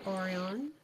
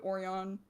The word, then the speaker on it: Orion: it's pronounced Orion. We know it's incorrect pronunciation. Mm. It's funny. Fun fact! Going back to the fun facts about characters that aren't really relevant to the story at all. Erebus's name is pronounced properly, spelt wrong on purpose.